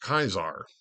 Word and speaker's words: Caesar: pronunciation basically um of the classical pronunciation of Caesar c a s a r in classical Latin was pronounced kaisar so the Zar is